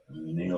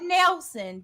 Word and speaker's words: Nielsen: Nielsen. Not Nelson, but Nope. Nielsen. Nielsen.